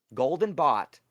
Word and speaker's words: Golden Bat: this with Amalia yesterday Golden Bot just so everybody here wants to know Golden Bat I guess his name is Bat but sometimes pronounced bot golden bat is an